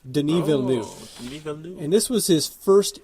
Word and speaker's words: Denis Villeneuve: to look this up to see how to pronounce his name but it looks it looks like Denis but it's actually Denis Villeneuve Denis velu and this was his first English film which